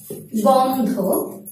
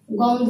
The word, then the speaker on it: গন্ধ: শিক্ষার্থী বন্ধুরা, এছাড়াও আমরা জানি অন্ত অয়ের শেষে যদি যুক্ত ব্যঞ্জন থাকে তাহলে অন্ত অয়ের উচ্চারণটি হয়ে থাকে অয়ের মত নয় ও এর মত, যেমন গন্ধ, গন্ধ শব্দটি বিশ্লেষণ করলে গন্ধ,